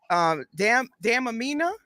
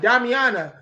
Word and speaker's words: Damiana: Damn Amina. How do you say that? Damiana.